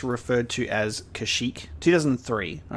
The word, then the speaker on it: Kashyyyk: 2003 um and yeah obviously we know that it's kashyyyk but old republic is going to refer to it as karshek you know maybe they maybe they updated the pronunciation in the universe you